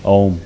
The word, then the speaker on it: Om: But for instance, we will practice this mantra chanting with using the sound of Om, which is 3 syllables, A, U and Ma.